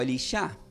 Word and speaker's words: Elisha: El nombre de Eliseo en hebreo se puede pronunciar como Elisha.